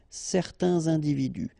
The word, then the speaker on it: certains individus: Individu, plural, starting with a vowel, you make the liaison, certains individus. Certains individus.